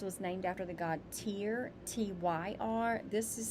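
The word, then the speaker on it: Tyr: wise tear wise was named after the god tear t-y-r this is spelled t-e-i-w-a-z this is when we are committed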